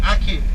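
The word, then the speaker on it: ackee: these are the aki it is spelled a c k e e aki now the aki is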